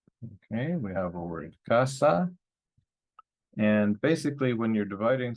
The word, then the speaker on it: casa: in a vowel so stress is going to be on the second to last so that's here and the word is pronounced casa right Casa if we